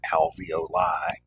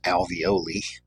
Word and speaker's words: alveoli: You've probably heard alveoli, which are the microscopic air sacs in the lungs. Um, some people mispronounce it as alveoli, which sounds more like something you would buy from Chef Boyardee.